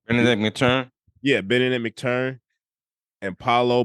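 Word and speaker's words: Mathurin: How do you pronounce his last name? Benedict McTurn.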